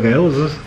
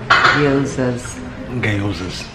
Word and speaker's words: gyozas: And we got an order of gyozas. It's got a G in there. What is called? The G is silent. Gyozas.